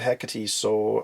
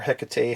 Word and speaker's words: Hecate: is the first appearance of Hecate, or Hecate, however you want to pronounce it.